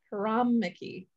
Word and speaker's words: Hirameki: haram okay now that i've confused myself prop haram mickey yeah there we go haramaki spell that for me please h-i-r-a-m-e-k-i h-i-r-a-m-e-k-i yeah wow